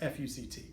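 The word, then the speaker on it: FUCT: It actually regards a clothing line that consists of clothing with the letters the word F-U-C-T, pronounced F-U-C-T.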